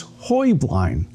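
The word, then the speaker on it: Heublein: Um, but the correct Bavarian pronunciation is Hoy Blind.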